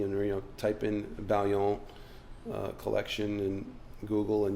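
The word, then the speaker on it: Baillon: you know type in Bon uh collection and Google and you'll see a bunch of the cards which for our listeners is B A I L L O N. Right. It's a French word and Bradley's pronouncing correctly,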